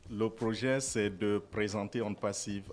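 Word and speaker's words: OnePassive: Ils viennent nous présenter la compagnie One Passive. C'est ça, monsieur Fernand, j'ai bien prononcé? Bonjour. Bonjour. Pas parfaitement, c'est on passive. Oh, On Passive. Ok, d'accord, voilà. Parce que c'est en anglais.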